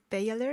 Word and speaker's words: Belaye: Then next to Jessica, we have Melanie Belaye. Am I saying it correctly? Baylor, yes.